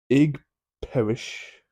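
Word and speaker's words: Ig Perrish: supernatural Thriller starring Daniel Radcliffe in Juno Temple egg Parish that's how you pronounce it will fall apart when he is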